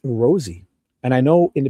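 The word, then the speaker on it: Rozzi: guarantee it's like a ratsi, you know, the Italian proper pronunciation would be rats or you know, but he pronounces it rosy like a rose even though it's spelled r o zzi.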